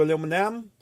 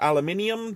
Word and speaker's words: aluminum: foil some papia do aluminum or aluminium depending on where in the world you are pronouncing this and we just want